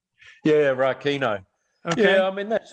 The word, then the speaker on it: Rakino: Is that pronounced correctly? Yeah, Rakino.